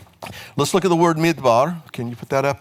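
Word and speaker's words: מִדְבָּר: Midbar means wilderness. But that same word can be pronounced medaber, which means to speak.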